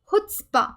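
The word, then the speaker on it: chutzpah: trait they call foot spa so it is pronounced as foot spa that means failure is accepted in the society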